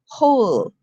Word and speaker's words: whole: is where when right if it's in front of an o it says like who whole hose whom all right and